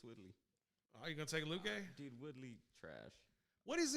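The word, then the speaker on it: Luque: uh versus uh vicente luke i think luke is the right way to say that i'm gonna take woodley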